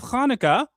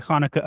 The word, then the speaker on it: Hanukkah: Also, tonight is the first night of Hanukkah. Yes. Some people pronounce it Hanukkah, but it's Hanukkah.